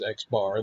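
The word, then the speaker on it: x̄: meaningful for us because we pronounce the sample mean as x bar, then just call the variable x bar.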